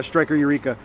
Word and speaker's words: Striker Eureka: Yeah, Striker Eureka.